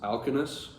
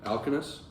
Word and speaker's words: Alcinous: I think Alcinous, that's how you say it. It's spelled Alkino, O with the 2 dots over it, S. That's how the Lattimore translation has it. But I believe that's Alcinous.